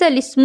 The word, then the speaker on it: الاسم: اور آخری بات، بئس الاسم الفسوق، اس کلمے میں لام سے پہلے اور لام کے بعد دونوں الف نہ پڑھیں بلکہ لام کو زیر دے کر پڑھیں۔ آپ یہاں دیکھیں، بئسا